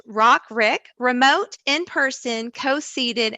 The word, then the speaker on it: RICQ: of you have wondered how do you say this crazy um an acronym but it's rock rick remote in person in-person